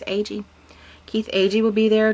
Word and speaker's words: Agee: Keith Agee, I think that's how you say his name. It's A-G-E, but he's been on Ghostly Talk, and I believe he's Agee.